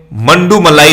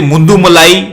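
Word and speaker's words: Mudumalai: एक है मंडूमलाई national park, इसे मुंडूमलाई, मंडूमलाई, मधुमलाई अलग अलग तरह से प्रोनाउंसिएट किया जाता है।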